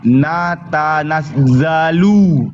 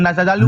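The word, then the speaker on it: نتنزل: Wama natanazzalu, bukan nazazalu itu. Itu zal.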